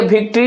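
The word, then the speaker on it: victory: और स्ट्रेस कहां लगेगा? भी आईसी पर यानी कि इसमें भी तीन सेलेबल है।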